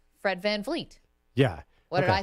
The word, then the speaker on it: VanVleet: Fred VanVleet. Fred VanVleet. Yeah. What did I say? No, I always say it wrong. I always get sometimes Fred VanVleet. You get a little F in the second V.